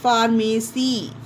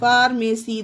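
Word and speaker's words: pharmacy: एम ए सी वाई फार्मेसी फार्मेसी देखिए पीएच आया है तो पीएच को फा का उच्चारण देंगे दवा साजी फार्मेसी जहां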